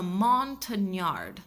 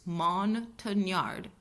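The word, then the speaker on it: Montagnard: The CIA utilized indigenous scouts, specifically the Montenard. I may be pronouncing that wrong. It's M O N T A G N A R D which I believe is Monard tribes people who were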